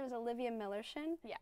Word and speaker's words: Millerschin: my name is Olivia millerin yes it's spelled like if you had a friend named Miller it'd be his chin so just search that